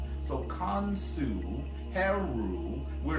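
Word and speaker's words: Khonsu: of a divine triad, Kansu also has a U sound at the end of his name. So Kansu, Heru, we're saying that we are the divine children.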